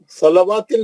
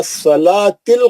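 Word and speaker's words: الصلاة: मुकामदा माशा्लाह इसमें बहुत सा गलतियां है ना सलवािल नहीं पढ़ना वो वाऊ साइलेंट है व सलातिल कायमा सलवा नहीं वाऊ देखिए वाऊ पे कुछ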